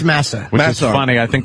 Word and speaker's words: Massa: How do you say his last name? I think it's Massa.